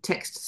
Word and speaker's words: text: is a Lifeline um text support when I say text I've got to pronounce it properly not Tech but Tex is in chat um web